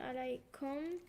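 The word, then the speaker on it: عليكم: On alaykum. That's oh, I was just something else. Alaykum. Okay, so alaykum rhymes with huwa.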